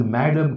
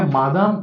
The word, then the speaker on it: Madame: इज मॅडम Curie. Digest मध्ये लक्षात घ्या, मादाम क्युरी म्हटलेलं आहे. परंतु जेव्हा आम्ही या ठिकाणी त्याचा प्रोनन्सिएशन बघायला गेलो, MADAME, तेव्हा त्याचं मादाम दिसेना, त्याचं प्रोनन्सिएशन मॅडम येते.